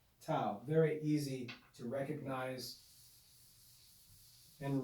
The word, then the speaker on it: tau: have the consonant tau this is pronounced tau looks like an uppercase